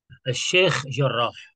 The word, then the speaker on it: Sheikh Jarrah: I don't know the pronunciation. Sheikh Jarrah.